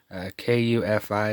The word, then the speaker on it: kufi: Kufi is how they pronounce it.